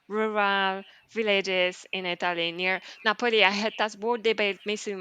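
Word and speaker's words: Napoli: villages in Italy near Napo I had that's word debate missing myself how you should pronounce napoi because apparently napoi is Italian and it's Naples in English but I feel napoi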